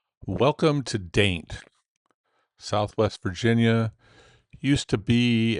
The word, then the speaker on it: Dante: Nice little welcome sign for Daint. Okay, so we're going to do a quick little tour of Daint, Virginia. I know it's spelled Dante, but it's pronounced Daint.